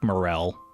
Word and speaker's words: morel: I know it's pronounced like morel, but sometimes it's fun to say moral instead because it allows it